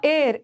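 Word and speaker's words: heir: बॉक्स देख रही हू एर एर में ना एच साइलेंट है इसको हेर मत पढ़ना एर एर ए साइलेंट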